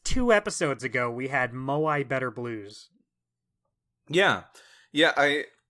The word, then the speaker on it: moai: another one except for maybe maui uh moai i i know how to say it uh moai better blues which we